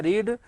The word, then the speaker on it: read: और जो READ जो स्पेलिंग है आपकी, स्पेलिंग तीनों में कैसी होती है, सेम, उच्चारण क्या होता है, रीड रेड रेड।